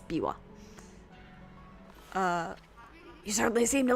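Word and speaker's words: Biwa: i wa instead um I think they spelled it this way so that the westerners playing this would know how to pronounce it instead of bua it's Bawa uh you certainly seem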